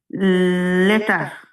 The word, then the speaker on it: later: লেটার। হ্যাঁ, এখন কিন্তু লেটার হবে, এই যে ই এর উচ্চারণ আ হবে, এভাবে মনে রাখবেন, ঠিক আছে?